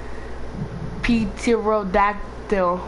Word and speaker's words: pterodactyl: Why the P is silent?